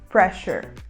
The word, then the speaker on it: pressure: Pressure. Pressure. Pressure se escreve com RE no final, então a gente não pronuncia o E, então a gente vai só pronunciar o R.